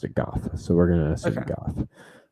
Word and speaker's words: Gough: Williams as Harvey Dent, Michael Gough, I think it's Gough, as Alfred Pennyworth. How's it spelled? Gough. Go. I was listening to a podcast today where they pronounced it Gough, so we're gonna assume Gough.